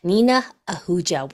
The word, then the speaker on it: Nina Ahuja: am so excited that we have Dr n Nina Ahuja with us did I pronounce it right did I do good yes